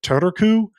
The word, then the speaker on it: Turku: You have to do the R sound separately from the U sound.